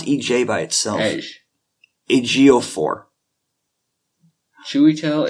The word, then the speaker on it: Ejiofor: How do you pronounce EJ by itself? Ejiofor. Chiwetel Ejiofor.